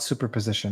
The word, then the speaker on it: superposition: I don't know what superposition is what superposition Steve fill me in do you think I'm saying it right yeah super position supposition no it's super it is super super as in Superman cool lyia Lydia says